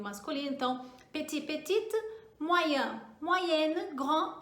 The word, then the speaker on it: petite: Se for no feminino, então acrescenta um E aí, petite. E marque esse E na sua pronúncia. Então, masculino, petit e petite, tá?